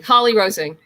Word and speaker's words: Holly-Rosing: How do I pronounce the last name, Madeline? Rosing. Holly-Rosing.